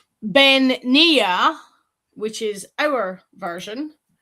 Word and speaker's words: bean-nighe: And different clans over here when you do the Let me get the correct pronunciation. Bean-nighe, which is our version.